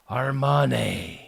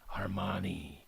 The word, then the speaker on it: Armani: uh how do you say his name Giorgio armman Armani Giorgio 90 the big 90 for Georgio uh